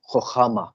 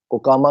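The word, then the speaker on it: חכמה: بڑھتے ہیں، نمبر 2 خخامہ۔ کچھ لوگ اس کا جو تلفظ کرتے ہیں وہ حکامہ کرتے ہیں، لیکن اگر اصولاً اس کو دیکھا جائے تو وہ خخامہ ہے۔ کچھ اور بھی آپ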